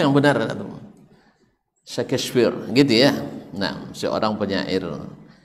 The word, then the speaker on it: Shakespeare: Syekh The First cowoknya Enggak ah DC kefir bacanya Yang benar Shakespeare gitu ya Nah seorang penyair Pujangga Amerika kenapa